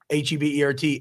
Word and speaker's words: Hebert: a natural French pronunciation H EB e r t AB so much show that you go bu an acronym you're right it's silent h and yes T-Bob means